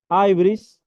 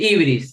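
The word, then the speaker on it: hybris: pecado que se llamaba Aibris, ¿sí? Este pecado de Aibris se escribe con H-Y, si lo quieren buscar. Sí, sí, ibris, sí, Sí, alguien podría decir ibris. sí, Aibris, dicen ellos.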